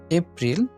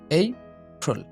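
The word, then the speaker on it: April: এটা 17 নাম্বার আমরা এটা উচ্চারণ করি এপ্রিল। এটার সঠিক উচ্চারণ হবে এইপ্রিল, এইপ্রিল, এইপ্রিল, এইপ্রিল।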